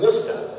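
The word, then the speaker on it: Worcester: to get it correct this is wora okay that's a two- syllable word won okay very important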